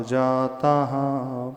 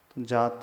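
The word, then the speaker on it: जाताः: उसके पश्चात विसर्ग है जात नहीं पढ़ना है जाता पढ़ना है उच्चारण करें पुत्र भार्या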